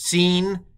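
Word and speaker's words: שׂין: the right was shh the dot on the left is s so this is the letter scene so this is scene and this is Sheen it's kind of the same letter um but pronounced differently depending on where we put the dot um so uh scene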